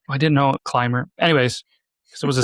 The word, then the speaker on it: Clymer: I'm pretty sure it's Clymer, right?